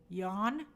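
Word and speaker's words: Yeun: That vowel is the same name sound in John, in Job, and Long. John, Stephen Yon.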